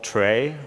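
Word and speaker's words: trie: that is a uh a tree that's WR TR r i e some people call it tray or pronounce it tray some people call it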